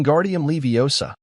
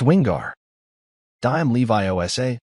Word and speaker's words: Wingardium Leviosa: much more luck wi guardium leosa he shouted waving his long arms like a windmill you're saying it wrong Harry heard hermion snap it's wingar dime Levi Osa make the gar nice and long you do it then